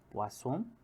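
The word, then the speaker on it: Poisson: ó po a som mas só que a pronúncia né acho que é quase um francês né É como se tivesse falando assim ó po a dois s né po a som né aqui a forma que se pronuncia pessoal isso aqui né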